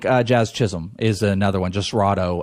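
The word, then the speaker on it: Jasrado: Chism is another one just righto I think is how you say his first name let me make sure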